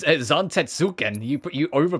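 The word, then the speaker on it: Zantetsuken: With his mighty Zantkin, this master of the That is not how you pronounce that, Chadley. What do you What do you mean? It's Zantuken.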